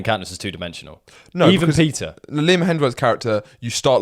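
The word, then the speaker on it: Peeta: Peter! And also, okay, let's... people stop giving a shit for saying it like that. They're in a different world. That's how the name's pronounced.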